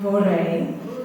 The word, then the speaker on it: vorrei: Vorrei. How do you say it? Vorrei. Did y'all hear her roll that R? I can't do that. I can't do that. So I say vorrei, like my cousin.